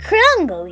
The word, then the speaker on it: Krungle: you dummy brain is mr krungle you gotta say it like that or else it's not